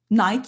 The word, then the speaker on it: Nike: Parce que des grands athlètes vont acheter des chaussures Nike. Il y en a qui disent Nike, il y en a qui disent Nike. Alors, prononcez-le comme vous voulez, mais cette marque, elle représente les ailes d'une grande déesse de la victoire.